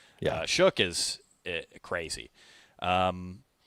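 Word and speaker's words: Shough: And I I also just can't believe his name is pronounced that way. I feel like someone messed up along the line. It it it shouldn't be Shook.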